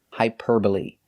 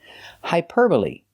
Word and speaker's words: hyperbole: e's are not silent we're going to pronounce them all the same with a long e sound like green bean let's take a look at the first word hyperbole hyperbole use the long i for the y high per like the